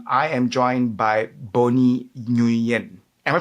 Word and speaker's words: Nguyen: And I am joined by Bonnie Nguyen. Am I pronouncing that correctly? Yes, that's definitely perfect. Yeah, Nguyen.